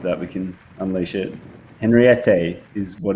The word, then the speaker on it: Henriette: Sorry, so we've been saying it wrong indeed, with a bit of a French twang. But Henriette, then it will be